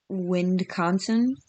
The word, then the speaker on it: Wisconsin: we say like, we say with, like say wind. Windconsin?